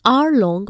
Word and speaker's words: hour: Some words that begin with a consonant followed by a vowel are pronounced with the sound of that particular vowel. The article an is used before such words. Examples: an hour-long meeting, an honest girl.